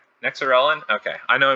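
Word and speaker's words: Nexerelin: So overall, it gets a 4.3, and it is compatible with Nexellerin. Nexorelin. Okay, I know I mispronounced it last time, so I'll make sure that I get it correct.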